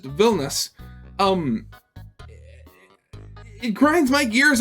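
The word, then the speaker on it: Vilnius: like purely English speakers pronounce the capital city as Vilas instead of just villus um it grinds my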